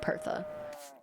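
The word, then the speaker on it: Perchta: Perkta Bertha? Okay. Are you saying it's pronounced like Bertha? So it'd be like Pertha.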